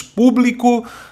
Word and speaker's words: público: recebem acento os o público e catástrofes por serem proparoxítonos olha verdade né sílaba tônica é a antepenúltima tá que hora público